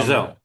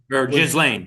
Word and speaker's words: Ghislaine: Ghislaine, is that how you pronounce her name? Maxwell. Um, Giselle Giselle or was Ghislaine.